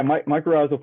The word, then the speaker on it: mycorrhizal: And can you correct me on that pronunciation? Yeah, mycorrhizal fungi.